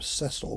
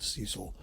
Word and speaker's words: Cecil: an extremely wealthy englishman he probably would pronounce his name cecil we might call it cecil rhodes he endowed the